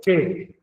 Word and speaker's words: quê: A pronúncia ele se ela se torna tônica. Por quê?